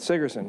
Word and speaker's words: Sigerson: Did I pronounce that right? That's correct. Sigerson, okay.